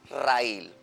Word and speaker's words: raíl: Raíl. Cuando yo la divido en sílabas, es una palabra bisílaba y es aguda. Aguda, terminada en L, se acentúa por el uso de esta tilde.